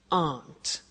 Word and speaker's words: aren't: they aren't cheap so the difficult here is the pronunciation of a not which is Aunt okay Aunt good so